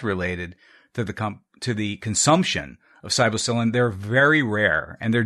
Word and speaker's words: psilocybin: Am I pronouncing that correctly? Psilocybin.